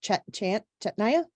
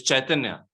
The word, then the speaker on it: Chaitanya: can't see the name chant Chet Naya how do you say your name sorry hi uh it's chaitanya uh hi go ahead